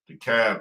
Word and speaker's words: DeKalb: DeKalb County.